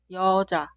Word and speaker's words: 여자: El sonido inicial es i e instantáneamente termina con o. Cuidado, suena como un solo sonido, no dos sonidos separados y o. Es 여. ¿Puedes leer esta palabra? La primera sílaba suena 여. yo. En la sílaba posterior, ja, ja, ja. La palabra se pronuncia 여자, 여자.